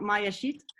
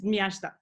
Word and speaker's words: Miasta: So it's not Mayashit, it's Miasta.